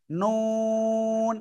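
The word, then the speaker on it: نون: পড়বো এই অক্ষরটা কিভাবে জিহ্বার আগা তার বরাবর উপরে তালুর সাথে লাগিয়ে নুন দুই ঠোঁট হালকা গোল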